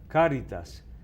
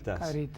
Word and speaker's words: caritas: pero ahí conviene ponérselo porque la gente dice hasta en los medios Caritas. caritas. Sí. Entonces yo siempre le pongo el acento en la primera A, caritas.